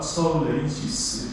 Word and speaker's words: Seoulensis: 그리고 이제 다른 단체와 구별되기 위해서 서울이라는 라틴어가 서울레이시스 이렇게 발음해요.